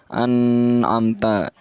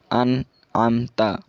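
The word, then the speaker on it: أَنْعَمْتَ: Jadi bacanya itu harus jelas, tidak disertai gunnah seperti an'amta. Jadi itu salah. Yang benar an'amta.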